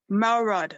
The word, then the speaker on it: Melrod: His name is Johnathan Melrod. Am I pronouncing your last name right?